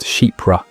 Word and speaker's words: Chypre: Chypre, pronounced Chypre, is one of the oldest and most sophisticated fragrance families in modern perfumery.